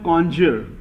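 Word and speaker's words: connoisseur: वैसे तो इसका प्रोनाउंसिएशन होता है कॉन्जर, लेकिन हम लोग वैसे याद करने के लिए कह सकते हैं कौन कॉनॉइजियर, कौन नॉइज कर रहा है।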